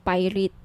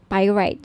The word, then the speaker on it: pyrite: ng bracelet ito yyung pirate pyrite Sorry pir right yung iba pronunciation pirate pyrite Okay 1,980 each may